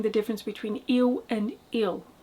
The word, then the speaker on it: ele: But we don't really pronounce the E's at the end of words, so that L actually becomes a dark L, because it's at the end of a syllable. Il, il.